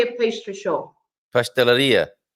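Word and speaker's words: pastelaria: Pasteleria. Pasteleria, so you stress at the end, right? And then a bakery. Padaria. Padaria, you stress at the end. So all these words, padaria, pasteleria, cafeteria, merceria, livraria, and I could go on and on.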